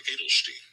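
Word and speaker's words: Eydelshteyn: Pronunciation is Mark Adelstein. Adelstein. Okay. Mark Adelstein. That seems like way too many letters for Adelstein, but yeah, tell me how you feel about him. So, Mark Adelstein.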